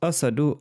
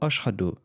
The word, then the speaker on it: Ashhadu: moquez de Bilal parce qu'il prononce Asadu au lieu d'Ashhadu, mais Dieu sur son trône est ravi d'entendre son adhan. Sa prononciation Asadu est bien plus précieuse aux yeux d'Allah que vos Ashhadu.